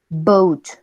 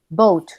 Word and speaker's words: boat: Esa es muy normal para nosotros cuando se dice, por ejemplo, habló, dólar, o sea, es como una O de nosotros, casi. ¿Por qué? Porque disimuladamente también vamos a pronunciar una U.